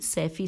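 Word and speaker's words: صیفی: ہے، رفیقت بنت ابی سیفی، سیفی کی ہجے ہے، سواد یہ فے چھوٹی ہے۔ آئیے ان کے بارے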